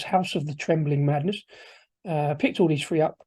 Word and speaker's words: House of the Trembling Madness: I always pronounce that wrong. I always call it the House of Trembling Madness, but it's not. It's House of the Trembling Madness.